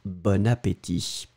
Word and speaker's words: bon appétit: masculin l'adjectif est bon mais on fait la connexion donc on prononce bonne appétit vous entendez bonne mais c'est vraiment bon bon appétit mais on va faire le lien donc bon appétit bon ap veuillez c'est